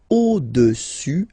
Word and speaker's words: au-dessus: Le cube est au-dessus, final S not pronounced here, au-dessus du cylindre.